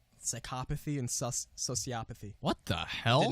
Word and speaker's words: sociopathy: I could One thing I did not know, it's not pronounced psychopathy or sociopathy. Psychopathy and so sociopathy.